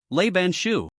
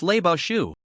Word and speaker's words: Lei Bao Shu: Lelay banshu. Goof deliberately mispronounced a character in the incantation causing the magic to fail. It's not Lelay Banshu. It's Lebashu. Lebashu.